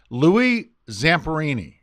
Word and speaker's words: Louis Zamperini: and how the listeners the best way to pronounce his name now you're putting me on the spot see it's Louie Zamperini you know what you did that flawless did